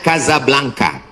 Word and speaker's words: Casablanca: Ibu kotanya tulisannya Casablanca. Cara bacanya Kazablanka.